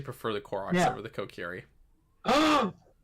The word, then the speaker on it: Kokiri: Like if you had the Kokiri, am I pronouncing that right?